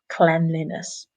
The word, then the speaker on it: cleanliness: So the adjective is the long sound, and the longer noun is the very short e, cleanliness.